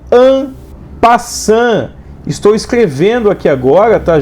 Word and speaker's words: en passant: O nome disso, pessoal, é en passant. Estou escrevendo aqui agora, tá, gente? No lugar de peão, estou escrevendo en passant. Poxa, mas está escrevendo EN, passante, espaço passante, com T mudo no final.